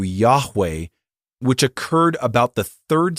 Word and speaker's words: Yahweh: And since 1931, they have insisted that he be called Jehovah, which is actually, if you look up that word, it's actually a mispronunciation of the Hebrew Yahweh, which occurred about the